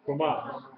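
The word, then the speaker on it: Kamatz: Komat. Say it out. Komat. It looks like a little T up under the letter. And it is pronounced like A in father, long A, commas, long A.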